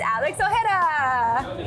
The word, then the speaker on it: Alex Ojeda: It's Alex Ojeda. Let's go. I said it wrong, didn't I? No, you said it right.